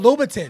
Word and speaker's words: Louboutin: Because if they value, I can't even, how you pronounce it? Christian LaSalle. No, not you. The shoes. Oh, Louboutin.